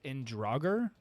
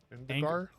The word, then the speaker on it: Indigar: Uh, his his passive, and forgive me, uh, this I think this is maybe his planet or his species, Indragger. Indigar. Indigar. Anger. Sorry, I butchered that.